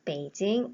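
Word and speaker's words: 北京: 중국인들은 좀 다르게 합니다 중국인들은 북쪽의 북을 베이 라고 하고요 서울의 경 자를 찡 이라고 해서 북경 이라는 한자 를 보는 순간 한국인들은 북경 일하고 있지만 중국인들의 부경 이렇게 안하고 요 때 이징 이라고 합니다 다시 말해서 북경 이라고 써 있는 환자를 중국인들 베이징 이라고 읽는 다는 거죠 따라서 북경과 베이징은 같은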